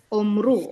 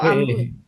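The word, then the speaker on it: אמרו: Omru. Omru atau amru? Amru. Ya. Amru. Nah, ini ada tanda tanda ini. Ini sebenarnya paus ya. Dia bacanya ameru ameru ya.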